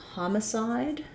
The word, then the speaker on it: homicide: question about homicide uh so here our letter o is vowel ah it's um usually o is when it's in the stress syllable is an r sound so thinking about that like ha um then we will have an or even an uh sound for the second syllable and then the e makes the